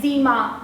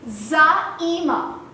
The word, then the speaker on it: Zaeema: So I have been called by hilarious names like Zeema, Zameena, Jaeema, and very recently, as in University. But the actual pronunciation of my name is Zaeema, and it means a leader.